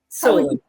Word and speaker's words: Solon: Is it Solon or Sol? How would you say it? Solon. I see she knows how to pronounce it.